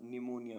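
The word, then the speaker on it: pneumonia: ई यू एम ओ एन आई ए न्यूमोनिया निमोनिया means ज्वर ऐसे word जिनमें एस साइलेंट रहता है आई एस एल ए एन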